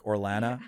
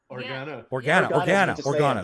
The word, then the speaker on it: Organa: Pronouncing those. Claudia, it sounds so much like the last name of Princess Leia, like Orellana or Orellana. Organa.